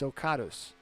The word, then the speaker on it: Socatus: It's Socatus. Socatus? Yep. That's how it is. S-O. Okay, so the way it is, it's spelled to sound SOKAHTUSS.